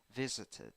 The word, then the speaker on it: visited: So here the pronunciation is tit, tit at the end.